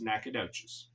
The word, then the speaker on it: Nacogdoches: Texas and yes if you wondering how to pronounce it it's nacadas nacadas Texas is the oldest city in the